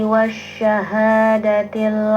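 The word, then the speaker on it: والشهادة: Jadi pengucapan huruf sya itu punya sifat tafashi, angin tersebar di rongga mulut ada shh, seperti itu.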